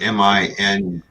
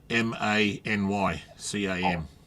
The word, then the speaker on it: ManyCam: Oh, I thought it was mini. No, many. Oh, here we go.